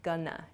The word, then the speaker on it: gonna: Try shortening both of these expressions. Going to shortens to gonna. G O N A.